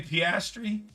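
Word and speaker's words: Piastri: How do you pronounce that last name? Pastri.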